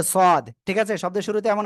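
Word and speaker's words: صاد: করে এটা কি অক্ষর সদ একটু মোটা আওয়াজ হবে সদ ছাদ বলবেন না যেন বাড়ির ছাদ যেন কেউ বলবেন না হ্যাঁ সদ সদ সবাই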